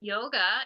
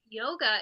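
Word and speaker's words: योग: sad and like within yoga you know yoga in India prior to Western influence like yoga is not called Yoga Yoga is pronounced yog yog that's the correct pronunciation of it and in fact the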